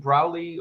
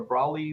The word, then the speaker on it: Braly: uh like a w isn't browly or brawley sometimes spelled with a w it's pronounced that way but if you if